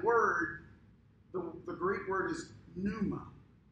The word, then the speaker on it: pneuma: the greek word is pneuma it starts with a silent p pneuma it's where we get